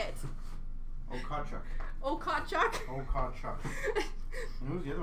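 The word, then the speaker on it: Okhotiuk: Hutton, Victor Loden, Jaden Habogwax, Dylan Gunther, Nikita Okotwick, John Lizotte. How do you say it? Okotchuk.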